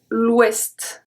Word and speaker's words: ouest: And the last one, l'ouest, l'ouest, ouest, west. Okay? So it's pronounced exactly like the English one.